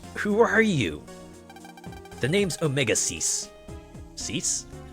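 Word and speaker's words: Omega-Xis: Am I pronouncing that right? Or is it Zeiss? Omega Omegas. Omega Ziz. I'm going to say Omega Ziz. The name's Omegas, but humans get it all wrong, so just call me Mega.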